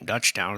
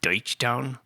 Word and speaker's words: Deutschtown: Dutchtown is a mispronunciation of it, obviously. Deutschtown.